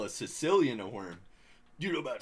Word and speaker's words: caecilian: What, is it spelled like Sicilian? No, it starts with C. It's like no, it's like C-E, Sicilian.